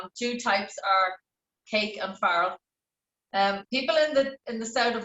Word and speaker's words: farl: So the word farl, it's pronounced farl, F-A-R-R-E-L, and it derives from the old Scots word fardel. Did anyone ever know it was called a fardel? No, but I always thought it was called far, not farl. Yeah. No, it's F-A-R-L.